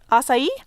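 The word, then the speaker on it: açaí: written and it's like is that a chi a sigh sí yeah sí is also I think an acceptable pronounce okay but ya know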